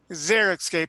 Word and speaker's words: xeriscape: xeriscape xeriscape how do you say it Cara xeriscape thank you yeah sort of environment which is